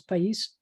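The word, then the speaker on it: país: an h instead um it looks like it says peas but it's not peace it's pais why chef telly for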